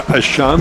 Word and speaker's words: Etienne: We have not been disappointed by the play of Trevor Ashan, the little brother of Travis Etienne, pronounced Etienne, everywhere else in the country, but in South Louisiana where we say Trevor Ashan.